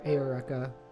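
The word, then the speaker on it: Eureka: i fully re-watched uh erica seven as well um or ayoreka if we wanna get like the really specific pronunciation it wasn't a vibe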